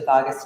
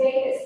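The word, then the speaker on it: vagus: It's Vegas like the city.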